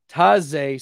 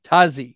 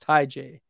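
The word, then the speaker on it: Tyjae: So I went on Pro Football Reference, and it's Taze Spears with a Z, Tazi, even though it looks like it's supposed to be pronounced Ty J Spears.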